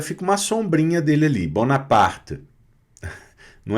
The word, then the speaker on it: Bonaparte: Que é um T bem mudinho ali no final, sem um E muito forte, tá?